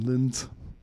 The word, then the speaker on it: Linz: Of course, I'm saying that with my American pronunciation, Linz. I'm sure if you heard the German pronunciation, it would sound better, but I'm going to